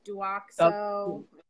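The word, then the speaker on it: Douxo: This is Duoxo, that's how you say it, chlorhexidine shampoo.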